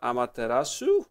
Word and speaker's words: Amaterasu: You play as the sun god Amaterasu, I believe, if I pronounced that right, if I remember correctly.